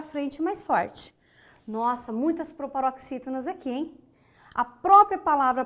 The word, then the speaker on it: proparoxítona: A palavra proparoxítonas, vamos dividir? Proparoxítonas. Conte as sílabas de trás para frente. Primeira, segunda, terceira. Ou seja, proparoxítona, acentuada.